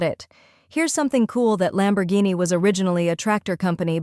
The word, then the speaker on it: Lamborghini: the correct pronunciation is Lamborghini the lambor part is straightforward just like it sounds lambor the Guin part is pronounced as G with a hard G like in the word go remember it's Italian so